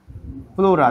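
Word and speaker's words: pleura: আবরণী আমরা ছোটবেলা থেকে পড়েছি ফুসফুসের আবরণীর নাম কি স্যার প্লুরা দেখতো এর বানান কি পি এলই ইউ আর এ লিখে ফেল প্লুরা কিন্তু ইংলিশে উচ্চারণের টাইপ মানে ইংলিশে বানানটা কেমন হবে প্লিরা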